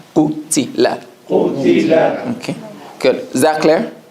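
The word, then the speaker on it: قُتِلَ: Qaf, Dhamma, U. Ta, Kasra, Ti. Lam, Fatha, La. Qutila.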